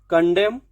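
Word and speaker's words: condemn: एम के बाद अगर एन आता है, एम एन का कॉम्बिनेशन बनता है, तो ऑल टाइम आपको एम बोलना है, एन का प्रोनाउंसिएशन नहीं देना है। ऑटम, कॉलम, कंडेम, डैम, हैम, इस तरीके से देखिए हो गया।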